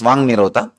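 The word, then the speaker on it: Vāk Nirodha: Vak Nirodha only, when you pronounce it, becomes Vang Nirodha.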